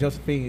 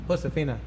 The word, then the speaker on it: Josefina: too but your number your name ain't Josephine it's just it's Josefina no I'll be saying